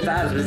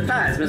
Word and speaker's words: Theismann: Joe Theismann's last name is actually pronounced Theismann, but a marketing guy at Notre Dame got him to change it to Theismann, so Theismann rhymes with Heisman.